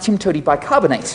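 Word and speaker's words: TIMTOWTDIBSCINABTE: either and of course that is pronounced Tim to bicarbonate so how do we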